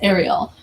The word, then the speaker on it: Ariel: name you know what one person thought they pronounced it as ellen i was like no it's ariel not ellen but that's it's cute